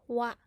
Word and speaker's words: は: is used as particle so instead of pronouncing as ha you have to pronounce it as what now one what now